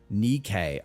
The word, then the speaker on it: Nikke: Nikke. Okay, Nikke. Got it. I will no longer be mispronouncing it. No longer be completely uncultured. First pronunciation was correct.